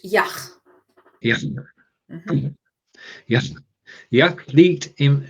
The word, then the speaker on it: Yach: So let's go, and I hope to get the pronunciation right here. Yach. No, it's a CH. Yach.